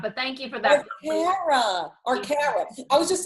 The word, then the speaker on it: Arcara: It's pronounced Arcara, but thank you for that. Arcara.